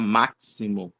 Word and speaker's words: máximo: Não fica máximo, não fica máximo nem máximo, fica máximo, máximo, né? Com som de s.